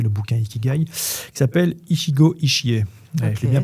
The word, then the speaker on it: Ichigo Ichie: ont écrit pris le bouquin Ikigai qui s'appelle Ichigo Ichie, je l'ai bien prononcé en plus celui-là.